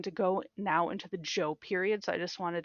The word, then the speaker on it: Zhou: So the Zhou period, yes, it's pronounced Zhou.